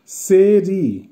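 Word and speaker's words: серый: সালাতভি, সালাতভির অর্থ হবে হালকা সবুজ বা বাঁধাকপির রঙের মতো, উচ্চারণ হবে সালাতভি। আবারও বলছি সালাতভি। সেরি, সেরির অর্থ হবে ধূসর বা গ্রে, উচ্চারণ হবে সেরি।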